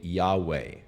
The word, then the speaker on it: Yahweh: hebrew name for God it is the YHVH Tetragrammaton that is unpronounceable but according to most scholars the pronunciation is probably Yahweh so to read this